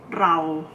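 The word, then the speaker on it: เรา: means I or me when you pronounce the BR or Karen okay it's a link for a broader in highest you're supposed to roll a little bit roll your tongue a little bit like like the way you do it in pronouncing Spanish or Italian Wow okay so we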